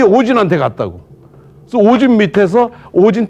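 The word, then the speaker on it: 応神: 그런데 일본 서기를 보면요, 요거를 발음을 오진으로 해라 이렇게 써 있어요. 오진. 응신인데 응신을 오진으로 해라 이렇게 지금 발음 토를 달아놨어요.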